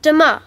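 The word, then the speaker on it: demain: say tomorrow in french um it's dima sorry can you say that again please yes it's de ma how do you spell that d e m a i n great thanks jasmine listen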